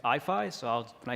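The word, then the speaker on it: IAIFI: Um so we pronounce the abbreviation for our institute IFI.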